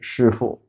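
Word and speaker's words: 师傅: So the fourth tone at the end, the second character, is not that pronounced, but it should be 师傅.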